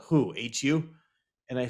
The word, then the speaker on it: Hu: you can really yeah it's called hu pronounce who Mongolian rocks crazy they